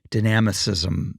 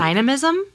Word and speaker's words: dynamism: her um work ethic and spirit like her dynamicism around everything. Oh, I haven't heard that word. Dynamicism. I probably butchered it. Dynam dynam dynam dynism. Dynism. Dynam being dynamic. Dynamism.